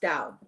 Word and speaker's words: Tao: is pronounced Tao.